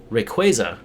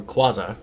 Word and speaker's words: Rayquaza: Rayquaza, or Quaza, depending on how you say it. Depending on your accent.